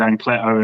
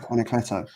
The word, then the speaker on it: Anacleto: I definitely said Ancleto in my video this week. I thought it was Anacleto. It's Anacleto. Anacleto.